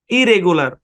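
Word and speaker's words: irregular: নিয়মিত রেগুলার মানে নিয়মিত শুরুতে আমি আই আর যুক্ত করে দিলাম তাহলে এই সম্পূর্ণ শব্দের উচ্চারণ কি হবে ইরেগুলার ইরেগুলার উচ্চারণ হবে ইরেগুলার তখন অর্থ দাঁড়াবে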